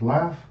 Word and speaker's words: laugh: roll are oh no the word laugh is L a F and remember written phonetically so what's at F for the G H here what's the F sound the word origin is